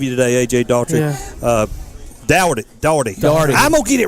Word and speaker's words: Daugherty: Daugherty. I'm going to get it right. Daugherty. Sean, I keep thinking Sean Daugherty, the basketball player in NASCAR. I got you. That's the same pronunciation, Daugherty.